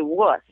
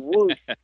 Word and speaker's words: wuss: I was like, I had the worst time trying to learn how to say wuss. I kept saying woos.